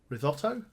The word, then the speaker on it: risotto: I won't really cook risotto risotto I'm picking up the American pronunciation there ahem because I can't